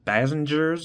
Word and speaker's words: Bazingers: Uh, anyways, uh, here in front of the camera, we have five bassengers. I think that's how it's pronounced. Uh, based on my research. It's an Arabic derived word.